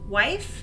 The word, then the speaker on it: wif: males, and something just W-I-F, wife, and it's, as far as I'm aware, it's just pronounced wife, kind of like husband and wife.